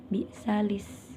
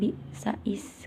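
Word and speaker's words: بئس الاسم: diganti jadi bi'salismul fusuq, jadi disambung bi'salis, bukan bi'sais, karena itu tanda ada lam.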